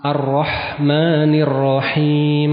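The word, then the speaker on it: الرحمن الرحيم: Contoh misalkan ketika membaca arrahmanirrahim. Arrahmanirrahim. Mim di sini pakai apa? Pakai huruf ha. Jangan seseorang membaca pakai huruf ko. Arrahmanirrahim. Ini sudah salah arti ya. Apa artinya kalau arrahmanirrahim?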